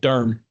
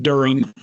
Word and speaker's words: Durham: It's one syllable, Durham. Durham? Not During.